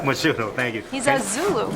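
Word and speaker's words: Mchunu: Can you speak on, I don't want to mispronounce his name. Tabiso Machunu. Machunu, thank you.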